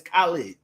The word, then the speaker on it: Khalid: It's Khalid. It's Ka, not Cal. But anyway, he's screaming nigga on all his nigga, give me a nigga. And I'm like, hold on. I don't know if Khalid is who stamped this nigga?